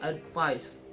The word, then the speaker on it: advice: And for primary stress on second syllable, there are advice is ad is unstress, vice is stress.